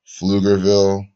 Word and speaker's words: Pflugerville: 23 23 years old from Pflugerville the silent P 64 like 62 like